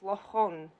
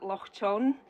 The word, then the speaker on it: Loch Chon: It's Loch Chon. And people always pronounce it Loch Chon, much to my dismay, but it's okay, I'm correcting the population one by one. And Loch Chon means Loch